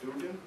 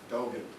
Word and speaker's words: Dogan: I'm happy to have, am I pronouncing it right, Dugan? Very close. It's a long Dogan. Dogan, okay.